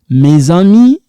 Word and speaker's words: mes amis: Mes amis, this one sound like za, like Zahir.